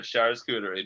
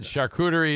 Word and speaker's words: charcuterie: plan words right there char scootery baby oh god adnan says that's not how you pronounce it uh and then charcuterie is the art of